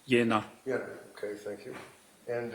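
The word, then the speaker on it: Jena: Yeah, it's pronounced Yenna.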